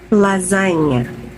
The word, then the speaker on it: lasagna: we do not pronounce or say G sounds in these words so come on please